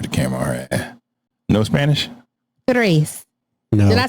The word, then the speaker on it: tres: Tres. No. Did I say it right this time, CJ? No, it's not TH. You said thrice. Tra. TR. You know she can't roll that tongue.